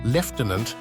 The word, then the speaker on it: lieutenant: conservation helps explain why the pronunciation leftenant has persisted in the British Army and Royal Navy even as the language around it continued to evolve the pronunciation of words